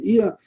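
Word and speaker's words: Chiya: He pronounced his name not the regular way Chia, but Iya.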